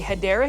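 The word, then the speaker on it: Hedera: helix or what you call a hadera helix that's the correct way to say it but I'm going to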